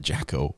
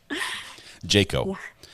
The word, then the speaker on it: Jaco: I would like to because I call it Jacko is it not is it yako is it Jacob Jayco Jayco okay I'll remember that all right thank